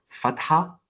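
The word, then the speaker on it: فتحة: Donc on commence par fatha avec le son A.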